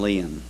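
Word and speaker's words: Lein: On the program, my name is spelled L-I-E-N. The correct spelling of it is L-E-I-N. There is the name Line that is spelled L-I-E-N. I pronounce mine Leon.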